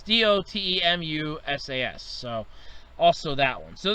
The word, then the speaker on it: Dotemu: East games, and I know I'm going to mispronounce this last one, Dotimu SAS. It's Dotemu SAS, so also that one.